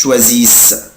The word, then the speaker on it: choisissent: vous choisissez، بس مش بنطق الاي اس اس او ان تي، مش بنطق الاو ان تي، بقولها كده ils choisissent.